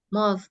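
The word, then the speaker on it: mosque: tadi dibang Mas MOS mosk ya Jadi benar ya tadi kan mosk ya cara bacanya mosk Ya lanjut number there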